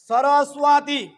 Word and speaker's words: সরস্বতী: তাহলে আমরা যদি একটা উদাহরণস্বরূপ বলি সরস্বতী, এখানে কিন্তু চর মতো উচ্চারণ হচ্ছে সরস্বতী।